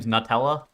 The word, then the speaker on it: Nutella: Nutella. Yeah. Well, it says Nut Ella. It's not new. That's definitely not how it's spelled.